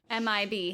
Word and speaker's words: MIB: in your research and how they spell men in black is always m-i-b m-i-b but they actually say it like mib ew i saw my first mid but 1964.